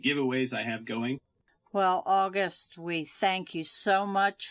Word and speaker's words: August: That is spelled like it sounds. August like the month, like the people from the north of France.